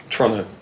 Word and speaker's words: Toronto: Toronto. I've got my pronunciation. Yeah, it's spelled no second T ever. T-R-O-N-N-O.